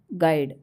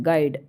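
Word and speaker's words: guide: ठीक question number 15 च letter is silent in the word गाइड means गाइड में ऐसा कौन सा वर्ड है जो साइलेंट रहता है गाइड तो गाइड में यू साइलेंट होता है ठीक है क्वेश्चन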